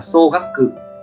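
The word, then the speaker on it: 総額: Cách đọc của nó là xô gắp cự, xô gắp cự, nghĩa của nó tức là tổng, tổng, ví dụ tổng số tiền đấy, tổng số tiền.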